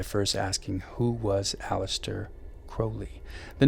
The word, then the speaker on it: Crowley: Crowley, pronounced Crowley, was born Edward Alexander Crowley on October 12, 1875.